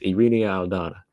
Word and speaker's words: Irene Aldana: Like I kept overthinking it when I was looking at how he wrote it. I kept trying to say each syllable, which you, like I said, you just have to let it flow.